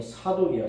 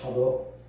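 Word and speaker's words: צדוק: 그때 제사장이, 충성스러운 제사장이 사독이야, 사독. 히브리 원 발음은 차독입니다, 차독.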